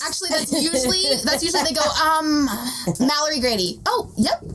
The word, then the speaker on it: Malerie: But it's not like your name is something hard to pronounce. It's Mallory.